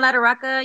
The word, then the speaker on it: Latorraca: and also at the john lotaroka or lataraca excuse me john ladoraka you said it right um but it has